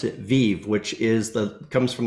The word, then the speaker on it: Viv: so don't don't feel bad but we actually pronounce it Viv which is the comes from the Latin word